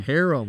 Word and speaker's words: Harem: Harem, like the elk.